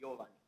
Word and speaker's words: Giovanni: If you want to say it right, it's Giovanni.